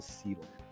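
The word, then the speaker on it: Selan: pronunciation as canon, so I'm going to have to go ahead and say that it's still Sealan.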